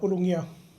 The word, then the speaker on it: Ulugia: How do you pronounce your surname? Uh Alaalatoa.